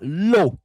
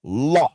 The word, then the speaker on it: law: On dira pas law comme faible, on dira law.